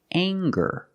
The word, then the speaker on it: anger: see this word and it's anger let's talk about anger we have the nasal um sound plus the hard G the G sound together and ger anger anger is a noun